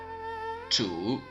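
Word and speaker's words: 土: Now, let's take a look at the pronunciation. The 5 faces are Mu, or wood, Huo, or fire, Tu, earth, Ting, metal, and Shui, or water.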